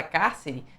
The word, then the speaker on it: cárcere: Ó, se você fizer a separação silábica da palavra cárcere, você vai perceber que cárcere também tem a sílaba tônica na antepenúltima ou na terceira de trás para frente.